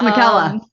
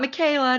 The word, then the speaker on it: Michella: asking how to pronounce my first name it's Micha everyone yeah not Michaela not michella okay someone likes your